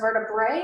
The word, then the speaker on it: vertebra: e ABN is pronounced vertebrae if it's got the a at the end that's pronounced vertebra okay and the vertebrae